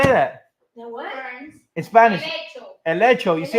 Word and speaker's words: helecho: Elecho. You see how it's close. Elechos.